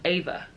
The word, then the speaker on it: Eva: cousin named Eva and she's very particular about how it's Eva and not Eva so I was like do you say Eva or Eva and she says it's actually pronounced Ava so I've been saying